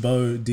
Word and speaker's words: BXWDY: It's pronounced Bo, D, you stupid bitch. Yeah. Bo, like bow and arrow.